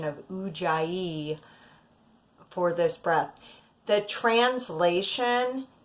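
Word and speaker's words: Ujjayi: Jie and though I swear I learned to pronounce it u Jaya breath and I'm not sure what the origin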